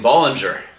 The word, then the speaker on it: Bollinger: and getting some of those better Champagnes champagne Ballinger Boling jacqu Boling was the original Finance Year